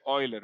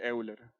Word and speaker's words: Euler: Eso se dice Euler, no se dice Euler. No destruyan el alemán, por favor.